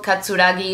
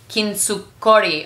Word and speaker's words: kintsukuroi: And I think the reason why this whole katsuragi, is that how you say it? Hold on one second. Kintsukori.